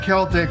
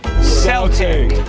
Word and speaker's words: Celtic: And so, while we've adjusted our pronunciation of the word Celtic when talking about music or language or culture, it should be no surprise that the two places the legacy of Celtic with a soft C live on is with